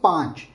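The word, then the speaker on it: पाँच: You should always say panch. Pang. So it should come from your nose.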